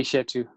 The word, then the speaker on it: Eshetu: How are we pronouncing that? It's actually Eshetu.